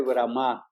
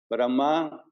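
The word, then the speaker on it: Brahmā: pánic corriente acerca de bram bram con con acento en la a que se hya constantemente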